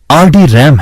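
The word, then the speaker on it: RDRAM: RD रैम रैम्बस डी रैम, जिसका उच्चारण RD रैम है, रैम्बस इंक लॉस ऑल्टोस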